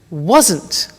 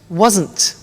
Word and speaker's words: wasn't: well was becomes wasn't listen to the pronunciation wasn't wasn't okay so i wasn't on